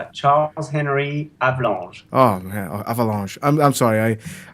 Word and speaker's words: Charles-Henri Avalanche: It's Charles-Henri Avalanche. Oh man, Avalanche. I'm sorry. I'm just horrible at pronouncing.